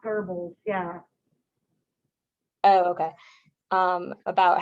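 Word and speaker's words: Goebbels: propaganda it doesn't have an r but it's pronounced verbals yeah oh okay um about how he kind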